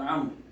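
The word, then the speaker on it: عمرو: than the father of Amr. What is the wow doing there between Amr and No, Amr always written with waw, just to differentiate between Amr and Umar. Oh. But it's not pronounced.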